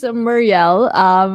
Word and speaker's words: MRLD: Yes, this is Muriel. Kasi kanina nga, tinanong ko siya, ano ba yung proper pronunciation ng MRLD?